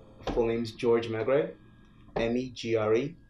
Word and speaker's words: Megre: tell us your full name full name's george magray emmy gre it's hard to pronounce five letters it gets butchered more often